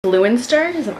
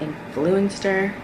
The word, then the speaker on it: Influenster: Influenster, am I saying it right? It's like influencer, but Influenster.